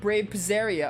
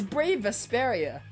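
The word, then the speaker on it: Brave Vesperia: now if it isn't brave presaria oh my goodness i forgot you're the one that pronounces our name wrong it's brave asperia you're gonna have to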